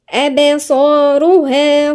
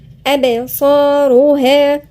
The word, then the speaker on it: أبصارها: أبصارها خاشعة. في قلقلة عند الباء، بعدين الصاد مفخمة وبعديها الألف الصغيرة اللي هي مد مقدار حركتين. أبصارها خاشعة.